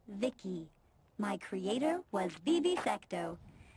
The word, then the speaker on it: VICI: transistors by the way i'm vici pronounced vicky my creator was vivi